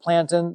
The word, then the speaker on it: plantain: um plantin is a it's spelled yeah spelled like plantain you say it plantin there's a a narrow